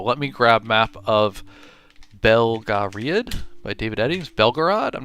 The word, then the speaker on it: Belgariad: Belgariad is how I pronounce it.